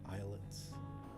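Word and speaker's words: islets: crud little eyelets I eyelets isets this is Island you don't pronounce the s isets that just sounds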